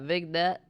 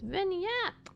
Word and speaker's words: vignette: I kind of feel like I'm not supposed to pronounce the G, but. Oh. It's vignette.